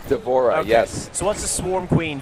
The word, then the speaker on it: D'Vorah: to do is it how you how' you pronounce her name d'vorah is that right d'vorah yes what's the Swarm Queen variation she's like